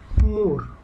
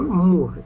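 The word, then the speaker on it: mur: মুর, এমইউআর, খুবই সিম্পল, মুর, ইংলিশে এমইউআর, মুর, মুর, মুর হলো কি? দেওয়াল, মুর।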